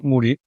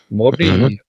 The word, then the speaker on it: Modi: At the time of this recording, we have Prime Minister Narra Moodi here in the country. Modi is is the proper pronunciation.